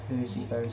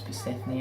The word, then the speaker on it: Persephone: game aren't you so here's a percy phone's cabin i'm kidding i know it's persephone i just say it to trigger all of you because it's pretty funny let's be honest purposefully mispronouncing to the name like that so now that i